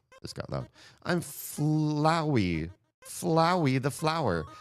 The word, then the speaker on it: Flowey: Flowey the flower. I would say flowy, but that wouldn't rhyme with flower. It would rhyme with like flower. So, I think it has to be Flowey, right?